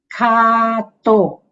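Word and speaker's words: svākkhāto: This V is pronounced as U. Swak. Swak. Sister Sumitra has done very nicely. So it's swak Swakato. So all the vowels are long.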